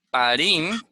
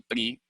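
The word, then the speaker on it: פרי: Ya no se puede decir pari, sino pri, que sería fruto.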